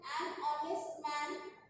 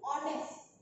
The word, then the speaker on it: honest: Here H is silent and sound is O. Sound comes of O, that is honest.